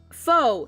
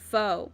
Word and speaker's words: faux: by side on a purple dyed foe that's how you pronounce it faux fo okay that that confused me for a minute i know that word but i can never remember how to pronounce it it's faux okay a faux leather couch